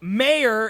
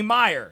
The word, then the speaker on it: Mayer: like Mayer is how it looks, but it's actually Meyer.